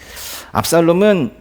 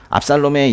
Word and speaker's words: 압살롬: 원래 뭐 샬롬보다도 더 가까운 발음은 쏴롬이긴데요.